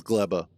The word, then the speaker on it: Gleba: grabum each time and apparently GBA is actually PR anounced GBA uh I rewatched the trailer for Space Age and um it it they pronounce it as gleba but I was also